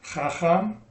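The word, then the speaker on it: חכם: So that shava there, it's trying to shorten the syllable, but it can't because the chet is a guttural. And in order to pronounce that, you need an ah. It does better with an ah sound.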